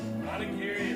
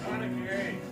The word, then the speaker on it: onigiri: Onigiri, that's how you say it. Onigiri.